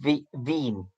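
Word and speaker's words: Wien: okay and he's just written bean wi e n but is pronounced with the V in V bean yeah he's on the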